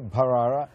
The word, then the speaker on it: Bharara: And for all my viewers, you're getting the correct pronunciation here, Bharara, aspirated H.